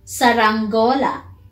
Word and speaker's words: saranggola: Saranggola. Saranggola. Saranggola, yes. You can say rang. Yeah, I think that's easy. That's easy to pronounce, right? It's rang. Saranggola.